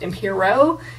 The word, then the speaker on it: Emperox: the other day that he meant for this to be pronounced Impero instead of Emperox, and I was like, I mean, huh, okay. I don't know, but I'm still gonna pronounce it Imperox, I guess.